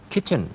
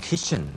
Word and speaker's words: kitchen: furniture ค่ะรวมถึงศัพท์อื่นๆนะคะที่ใช้ในการสนทนาที่เกี่ยวกับเรื่องที่อยู่อาศัยนะคะเป็นต้นว่าครัว kitchen ดีมาก ch นะครับ chen kitchen เสียงสั้น chนะครับ kitchen. อย่าไปออกเสียงยาวเป็น kitchen นะครับนั่นจะเป็น s s s s s h ไป แล้วก็มี bathroom นะฮะต้องเอาลิ้นออกมาด้วย เวลาอาบน้ำนะครับ